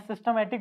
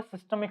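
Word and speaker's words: systemic: करते हैं है ना मैं सिस्टमैटिक बोल रहा था क्या इसका एक्चुअल जो प्रोनंसिएशन है वो सिस्टमिक सर्किट सिस्टमिक सर्किट ठीक है सिस्टमिक सर्किट और दूसरा क्या है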